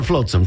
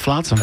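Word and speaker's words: flotsam: uh flatsom and jet now is it flatsome or floatsome come on let's discuss flatsom okay I got to go with flatsom yeah it's flatsom and jet I've been saying it wrong all these years that's out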